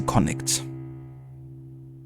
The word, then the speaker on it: Connacht: Here, 1 second, I'm gonna look up how to pronounce the name of a region properly. So it's Connacht, apparently. Okay, so Connacht.